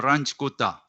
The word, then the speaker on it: Runge-Kutta: fourth order runge-kutta method r-u-n-g-e k-u-t-t-a method so you can pronounce runge-kutta or ranch kota so the learning outcome